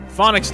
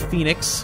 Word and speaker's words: Phoenix: me running around in circles doing things treasures phonics down that's how I used to pronounce it I now know it's Phoenix I was an idiot when I was a